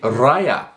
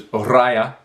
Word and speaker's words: Raya: to go back, this time again, to see Raya and the Last Dragon, not Raya as I had been pronouncing it the whole time.